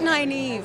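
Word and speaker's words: Nynaeve: popular i feel like naive i feel like nine eve is really beautiful especially now that people will know how to pronounce it yeah or unless anyone wants to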